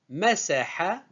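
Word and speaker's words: مسح: Le verbe en entier masaha. Ce verbe est composé de 3 syllabes simples. Ma, se, ha. Ma, c'est une syllabe simple. Se, une syllabe simple. Ha, une syllabe simple. Masaha.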